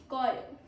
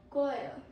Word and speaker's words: choir: Our first word is choir. How do you pronounce it? Choir. Choir.